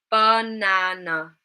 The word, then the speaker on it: banana: Banana, banana, banana. Well done, guys. Loads of you are getting it right. It's the first syllable and the third syllable.